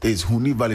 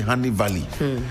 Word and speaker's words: Huni Valley: It's Huni Valley. They say Honey Valley.